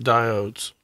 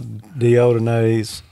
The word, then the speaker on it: diode: diodes not deodorants right diodes diodes yes not deodonais or diodines okay if you want to pronounce it incorrectly like we did for years like we